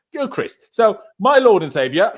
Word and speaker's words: Gilchrist: By the way, I've now realized how to pronounce his flipping name. So cheers, John Terry, for that. John Terry, how you pronounced it. I was calling him Joe Christ and all sorts of things.